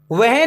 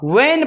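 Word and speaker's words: when: फिर ई आ गया, वहन नहीं होता, वैन पढ़ना, H चुप रहता है, वैन। आप कंफ्यूजन में होते हैं कि वहन पढ़ें कि वैन, वैन प्रोनाउंस करना है, वैन।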